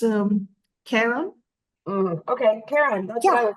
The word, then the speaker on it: Charon: match yeah wow but because in the beginning we have the C8 it could be Haron in English oh Haron okay okay